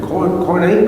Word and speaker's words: Koine: And if you're spelling that, it's Koine. The E is pronounced like a long A when you say it.